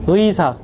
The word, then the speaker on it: 의사: 또 다시 한번 설명드리겠지만 의라는 발음도 굉장히 중요합니다 그래서 어 의가 처음 절로 들어갈 때는 의로 정확하게 발음이 돼요 의사 의사 의원 의원 원